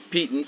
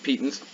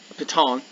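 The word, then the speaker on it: piton: if you'd want to petans i'm sorry they're actually pronounced petens apparently patong to climb the face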